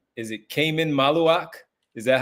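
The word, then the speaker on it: Khaman Maluach: Is it Cayman Malawak? Is that how you pronounce it?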